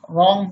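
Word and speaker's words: wrong: W प्रारंभ में आए और उसके तुरंत बाद आर आए तो प्राय W साइलेंट रहता है। देखें जैसे राइट मीन्स लिखना, रिस्ट मीन्स कलाई, रैप मीन्स लपेटना, रॉन्ग मीन्स गलत।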